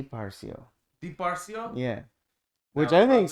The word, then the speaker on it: Parsio: since I've known you parsio that's how you say it oh it's not it doesn't have to be so forced but yeah but parsia parsio and how does it spell p-a-r-s-i-o yeah I see that